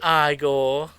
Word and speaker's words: Igor: Frankenstein no it's Frederick you must be eigor no they pronounce it aore they told me it was eigor well they were bong